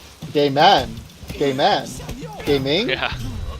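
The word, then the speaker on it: Gaiman: Neil gaming g a i m a n gay man gay man gaming yeah how does he pronounces a gaming or gay man gaming g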